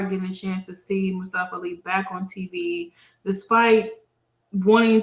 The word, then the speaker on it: Mustafa Ali: And even with Mustafa Ali, because that's how they pronounce it.